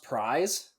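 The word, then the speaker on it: Prise: um and then they have the is it pronounced prize yeah that's right okay so they have the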